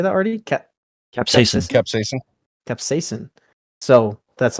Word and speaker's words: capsaicin: Capsaicin.